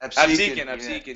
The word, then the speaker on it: Absecon: I think it's Absecon. Is that how you say it? Absecon, yeah.